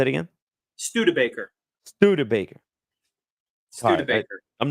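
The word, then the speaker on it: Studebaker: the way sorry that's all right how's it pronounced PG St Baker say it again stud Baker stud Baker I'm not gonna get it right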